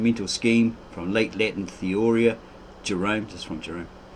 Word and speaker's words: theoria: Here it's got Theoria, here it's got Theoria. I think it's a longer O, Theoria, which will probably be like an Italian accent on that.